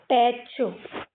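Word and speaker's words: patch: इसमें भी टी सी H last में है। टी को साइलेंट करो। ये पी पै की मात्रा पै और ये च पैच क्या हो जाएगा? पैच है ना?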